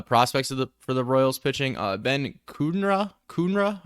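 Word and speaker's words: Ben Kudrna: Regarding the prospects for the Royals pitching, Ben Kunra, I think is how you say it.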